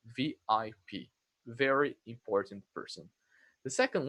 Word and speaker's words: VIP: You say letter by letter. You don't say like we say in Portuguese as a word that in Portuguese we would say VP, but in English now we say VIP.